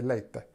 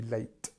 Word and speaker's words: late: sound late okay because sometimes people actually pronounce this e so they say late it's not correct it has to be late okay good good uh